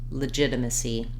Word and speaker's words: legitimacy: to pronounce legitimate and legitimacy so both these words are stressed on the second syllable ji and letter G says the J sound I've Rewritten that for